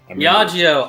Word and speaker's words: Diageo: Diageo.